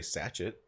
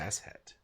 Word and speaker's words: sachet: You could just say sachet if you want. It'll just be super wrong. It's just ratchet, but with an S instead of an S or an R.